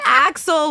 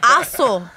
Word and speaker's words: Axel: it's Enzo Enzo ESO and then Axel was a whole other assle assle no no Axel Axel we even like try